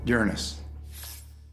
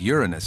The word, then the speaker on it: Uranus: people are embarrassed by Uranus Uranus yeah I pronounce the planet's name Uranus which is very likely closer to the original pronunciation of the name of the god after whom it was